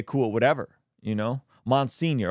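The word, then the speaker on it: monsignor: it whatever you know mon senior okay that's how you say it man senior Jamie okay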